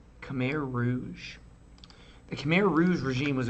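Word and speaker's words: Khmer Rouge: called I might be pronouncing this wrong the Rouge let me check that pronunciation hot's genocidal Rouge regime recently documents were discovered all right Cham Rouge the CH Rouge regime was a brutal regime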